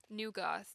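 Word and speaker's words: nu goth: Neo Neo Goss vibe new goth that's what it's like new but it's spelled word weird not Neo um it's a little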